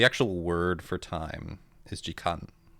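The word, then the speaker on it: 時間: So the actual word for time is jikan. Like that. But this is pronounced tera, and then if it's in a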